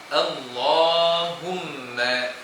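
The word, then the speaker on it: اللهم: Jadi kita baca dengan tebal dan dua harakat panjangnya tuan-puan. Allahumma.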